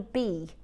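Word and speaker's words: bi: Um, but it's pronounced as B.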